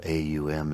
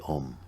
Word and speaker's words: Om: Likewise with the u, likewise with the And so A-U-M is not aum. Sometimes we see, or hear people pronouncing it that way because they see it spelled A-U-M. But it's actually om.